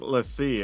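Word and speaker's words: l'Cie: Now, a fun thing we're going to try here is Fang and Fearless Lassie, as I was told it's pronounced.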